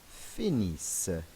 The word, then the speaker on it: finissent: And il and elle finissent. You may remember, just like with the ER verb, we don't pronounce these last three letters ENT.